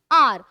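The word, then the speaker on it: hour: Next question देखिए, the teacher has been teaching for आर। आर में ध्यान रखिए कि कुछ वर्ड्स ऐसे होते हैं हमारे जो साइलेंट होते हैं, एच साइलेंट आता है,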